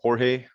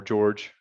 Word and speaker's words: Jorge: And then if you email me, so Jorge or George, I go by pretty much both, but it's spelled Jorge.